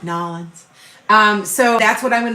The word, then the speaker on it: New Orleans: So when I go down to New Orleans, I gotta say it right, Nolans.